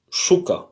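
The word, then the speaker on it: щука: Mais ça se prononce comme ça. Shuka, shuka.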